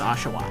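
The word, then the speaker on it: Oshawott: call it oat um but it is actually pronounced ashaw sort of interesting um I'm going to pick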